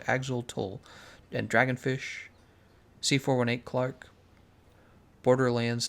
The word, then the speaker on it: Axolotl: The Minecraft update aquatic music, Shunji, Axol, how's it pronounced? Axolotl, and Dragonfish, C418 Clark, Borderlands 2 Ice.